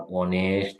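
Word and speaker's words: honest: যাই হোক, তো ফ্রেঞ্চ ভাষায় বাইক শব্দের প্রথমে এইচ থাকলে উচ্চারিত হয় না। এই শব্দগুলো যেমন আওয়ার, অনেস্ট, অনারেবল, এই শব্দগুলো সরাসরি ফ্রেঞ্চ ভাষা থেকে ইংরেজিতে এসেছে। এখন ইংরেজিতে যেহেতু এসেছে, এই কিন্তু উচ্চারিত হয় না, এটার উচ্চারণ কি হয়? Vowel sound.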